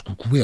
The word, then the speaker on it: KKE: interdit le le coué KKE on prononce coucoué en Grèce qui est interdit dès